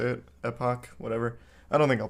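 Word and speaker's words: Last Epoch: It's Last Epic, right? That's how you say it? Epoch, whatever.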